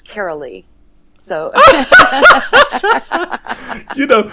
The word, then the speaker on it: Karoli: right see you know I had the Germanic pronunciation of the last name but not of the first name anyways yes carolly welcome well thank you